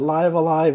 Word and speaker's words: Live A Live: stream when it happens I think I've heard that live alive is the correct pronunciation but it doesn't matter